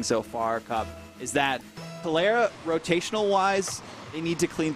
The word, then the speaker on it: Calera: Quick correction, excuse me, for pronunciation. It's Calera.